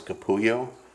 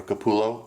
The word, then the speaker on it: Capullo: for 27 years I always thought it was Kapoor yo which is how you pronounce double elves I'm a so cowboy and